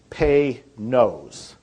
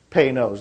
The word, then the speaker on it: Panoz: And it's pronounced, if you want to pronounce it right, it's Pay-Nose. Pay-Nose, like P-A-Y. And then N-O-S-E.